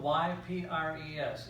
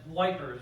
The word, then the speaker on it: Ypres: which is in Belgium, it's spelled Y-P-R-E-S, Ypres, French word. The Allies referred to it as wipers because it looks more like it would spell the word wipers.